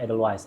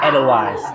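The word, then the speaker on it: Edelweiss: Salah satunya lagu-lagu cinta yang terangkum di sebuah album bernama Edel Wise. Anjay. Edel Wise. Benar kan bacanya Edel Wise? Soalnya orang pasti bilang Edel Wis.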